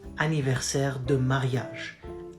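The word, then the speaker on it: anniversaire: anniversary like wedding anniversary it's the same word aniverse anniversary of wedding so it goes the same but here we use comes from the throat always and we say mon aniverse and that's how it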